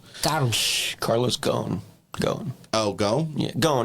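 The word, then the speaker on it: Ghosn: executive known as Carlos Gomez. Donald Carlos go. Oh, go. Yeah. Go. It's It's There's some silent letters in there, but Go.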